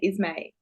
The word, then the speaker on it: Isme: how to say it you said Isme is that right Isme yes Isme yeah um so do